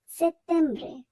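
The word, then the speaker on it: settembre: আমরা এখানে ট উচ্চারণ করবো না আমরা ত উচ্চারণ করব সেত্তেমব্রে অত্যব্রে এখানেও ডবল টি আছে এখানে আমরা ত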